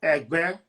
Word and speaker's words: Egbé: The tone on the word is re, mi, Egbe.